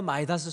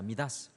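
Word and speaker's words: Midas: 마치고 하여튼 우리 교회에도 마이다스 손들이 많이 있다는 것을 저는 보면서 자부심을 가집니다. 여러분들, 그런데 원래 이 마이다스, 원래는 헬라어 읽기 발음으로는 미다스입니다. 미다스.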